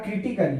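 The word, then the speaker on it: critically: यहां पर ए साइलेंट होगा क्योंकि लास्ट में ए डबल वाई यानी कि एली है, इसीलिए यहां पर पढ़ा जाएगा क्रिटिकली।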